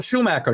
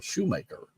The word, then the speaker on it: Schumacher: times the next Michael Schumacher now that name I know but it's been a while since Michael Shoemaker uh race right Schumacher I suppose would be the right way to say his name I mean if we